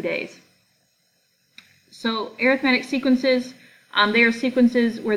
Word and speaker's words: arithmetic: I know it looks like arithmetic, but for sequences, for whatever reason, it is pronounced arithmetic.